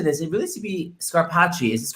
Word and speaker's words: Scarpaci: It really should be Scarpaci. Is it Scarpaci?